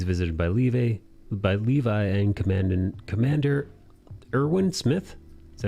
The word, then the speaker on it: Erwin: After he's in military police custody, he's visited by Levi and Commander Irwin Smith. Is that how you say his name? Yeah, Erwin.